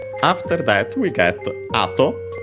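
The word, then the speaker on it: 後: After that, we get ato. Ato, we have seen it before, should be accent on the first syllable, and it is.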